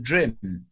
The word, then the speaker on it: Drum: I don't know him well enough to swear to that, but his website is called Drum Images, but actually around here you pronounce it Drim.